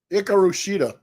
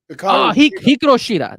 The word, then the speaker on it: Hikaru Shida: It's just how do you pronounce her name? Oh no, Hikaru Shida. Hikaru Shida.